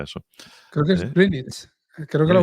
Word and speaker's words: Greenwich: Greenwich. Creo que la Greenwich. W no se dice, pero vamos.